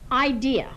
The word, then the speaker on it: idea: d do not say idear idea has the three syllables and not have the r on the end an idea is a